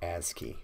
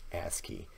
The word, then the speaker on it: ASCII: lazy don't want to type oh and that's pronounced ASCII we're actually gonna do a little bit more on that here in the near future a ski that's computer for digits and characters when you